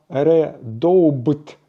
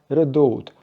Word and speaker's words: Redoubt: іншими ножами від benчmate назва редоубт насправді читається як редоут або перекладається як редут це слово французького походження